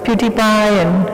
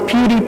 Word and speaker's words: PewDiePie: games and you know like pewdiepie and i'm saying it wrong but my kids will laugh at me because it's pewdiepie right so pewdiepie and the